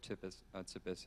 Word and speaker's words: Tsipis: process because obviously coach tius tius is the first male coach in the history of the program it's a silent T that's Greek if you didn't um it